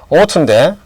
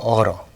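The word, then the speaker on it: ought to: 스펠링은 GH가 있지만 발음은 그냥 O입니다. 그렇죠. O2. 그 다음에 모음이 있죠. T가 그래서 모음과 모음 사이, 니을로. 또, to의 어는 악센트가 없어요. 그래서 어떻게 될까요? 어러. O2 또는 어러.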